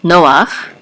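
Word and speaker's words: נֹחַ: know that it is the accent is on the first syllable Noah so Noah and this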